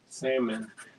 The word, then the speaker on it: salmon: They're like a pink salmon. Like a salmon color. Did you see that meme where they're like, might as well just start pronouncing the L in salmon now?